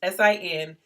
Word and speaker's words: Sincero: I always say it wrong because it doesn't look like Sincero, but it's Sincero.